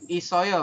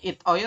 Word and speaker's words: 있어요: Isoyo berarti sanksiotnya pindah ke sini ya. Tulisannya itoyo tapi dibacanya isoyo.